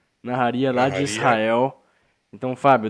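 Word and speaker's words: נהריה: A cidade eu não sei a pronúncia direito, Fábio. Você pode me ajudar? É Naharia. Naharia lá de Israel.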